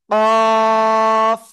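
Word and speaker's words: قاف: করেন এটার নাম হলো কফ কি কফ চার আলিফ টান জিহ্বার গোড়া তার বরাবর উপরে তালুর সাথে লাগিয়ে জিহ্বার গোড়া তার বরাবর উপরে তালুর সাথে লাগিয়ে কফ এরকম মোটা আওয়াজে কাফ জিহ্বার গোড়া তার বরাবর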